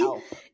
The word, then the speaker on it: Alphorn: I know you play is it pronounced Alphorn? We really got to make sure we emphasize that P. Alp. It's like the mountains, like the Alps, right?